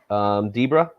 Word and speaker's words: Debra: Debra. Debra. Okay. All right. How did she spell it? Debra or Deborah. Yeah, Deborah. that's Debra. That's for sure Debra because Zebra is a.